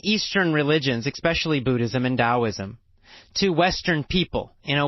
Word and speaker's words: Taoism: logic about it so it's spelled with the T but pronounced as a D I don't know why